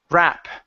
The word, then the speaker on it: wrap: Right here, instead of rup, it's wrap. Wrap.